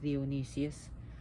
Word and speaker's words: Dionysus: Thrones and which is Dionysus theonesis but that's how he's pronouncing Greek and he was supposed